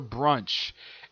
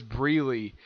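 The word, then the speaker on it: Brûlée: He calls her Brunch, even though her name is Breely.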